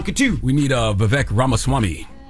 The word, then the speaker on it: Vivek Ramaswamy: two we need uh Vivek ramaswamy did I say his name right I think it's vivec Ram Swami Ram Swami I think that's right we need him to